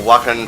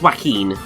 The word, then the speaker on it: Joaquin: Oh, Wacken Phoenix. What the fuck was my mouth going through there? I cannot pronounce the man's name. The Phoenix dude, right? Yes. I believe it's Joaquin.